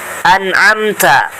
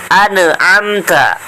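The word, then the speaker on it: أَنْعَمْتَ: Nah, tidak boleh dibaca ane. Ane amta. Ane amta. Ane amta, itu tidak boleh. Bacanya gimana supaya tidak mantul? Maka si lidahnya itu ditahan terlebih dahulu. Bacaan yang benar adalah sebagai berikut. Siratal ladzina an'amta 'alaihim.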